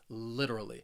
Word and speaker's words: literally: next word literally now this word has four syllables and the stress is on that first syllable that third syllable it has that schwa that uh literally and when somebody uses